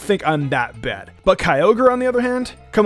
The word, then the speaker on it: Kyogre: I pronounced as Groudon, Kyogre, and Rayquaza. Rayquaza is a really common one, so I don't think I'm that bad. But Kyogre, on the other hand?